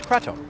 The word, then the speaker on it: kratom: The main ingredient inside this bottle is cretto, sometimes pronounced kratum.